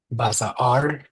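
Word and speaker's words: בשר: Basar, the Basar, meat. basar. Basar. Say it There's again. no break sound unless you see an apostrophe, right? Right. Basar, just Basar. Okay. 2 syllables.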